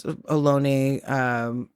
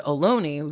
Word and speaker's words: Ohlone: in Fremont, which is Ohlone, Lisjan land, all of that. And I said Ohlone the way they pronounce it. And he goes, Ohlone, and just like corrects me in front of these people.